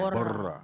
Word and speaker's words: Bora: those of you who don't want to roll your R, you can say Bora. That's fine. We'll let Bor- you slide. let me see. Bora. Borra.